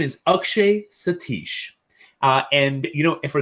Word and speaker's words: Akshay: there's some stories behind akshay uh the most mispronunciation of my name most common mispronunciation of my name is uh ashke you know ashkay that's what i get a lot now in middle school